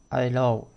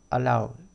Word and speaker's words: allowed: Ves que se añade ed y se pronuncia allowed, allowed, con d al final, allowed. La e esta no se pronuncia.